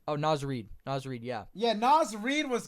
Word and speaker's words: Naz Reid: Oh, Naz Reid, yeah.